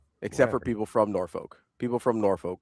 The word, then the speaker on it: Norfolk: Norfork. It's Norfork. There's no R in the second half of that word.